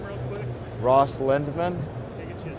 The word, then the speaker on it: Lindman: you to say your name real quick Ross lindman I get you to spell it